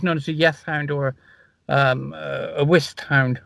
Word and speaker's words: Yeth Hound: And anyway, on Dartmoor, it's known as a Yeth Hound or a Whist Hound. I haven't got a speech impediment. That's the way it's pronounced and spelled.